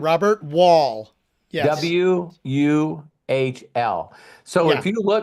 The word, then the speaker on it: Wuhl: Yeah, W Robert Wall.